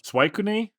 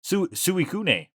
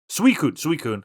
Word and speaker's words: Suicune: Why don't you take us out by trying to pronounce the Pokemon that the big blue Pokemon again for us? Suicune? Nope. Suicune. Close. Suicune? Nope. Suicune.